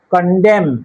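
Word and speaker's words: condemn: কন্ডেম, এনের উচ্চারণ হবে না।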